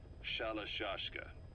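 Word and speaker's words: Shalashaska: Someone must have known about that, because somewhere along the line, Shashka got stuck on the end of Sharashka. The guerrillas were using the name amongst themselves, and by the time I got to hearing about it, pronunciation had wound up as Shalashashka. So, half Gulag, half hero sword.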